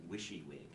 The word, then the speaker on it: WYSIWYG: There were those who claimed that you should pronounce it WYSIWYG. Because you're just wishing that it would come out.